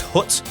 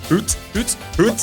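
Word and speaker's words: Hütte: don't pronounce this correctly, it's Hut, H with a H-U with an umlaut, double T-E. Is it Hut? Do you reckon Hut? Hoot. Yeah, we'll say Hoot. Bar Hoot Christmas Village at Golden Square.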